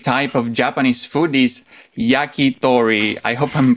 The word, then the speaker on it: yakitori: corporations his favorite type of japanese food is yakitori i hope i'm pronouncing it well welcome john very good japanese yeah it's good yeah yakitori yeah that's right yeah yeah cool what is